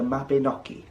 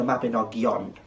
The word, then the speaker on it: Mabinogi: from and that is the mapinoki a map you might know it as the mabinogion however a lot of people do believe that the mabinogion is actually a mistranslation and instead mabinogi is more authentic to how the word should be portrayed the mabenaki is a